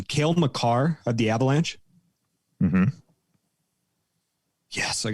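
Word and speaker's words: Cale Makar: a look at from 1920 tim correct my pronunciation kale macar of the avalanche yes i got it right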